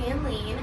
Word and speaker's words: Anline: And with a name that rhymes with queen, I mean, you gotta love her, okay? Hey guys, I'm Anline.